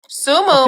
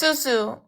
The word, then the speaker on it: Susu: Sumu, my name is Suzu. You said it right the first time.